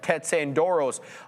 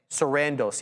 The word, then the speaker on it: Sarandos: co-CEO se Kandoros uh S whatever I always forget how to say his name and Greg Peters said the deal was attractive quote at the right price Sarandos yeah I always say it wrong sandos at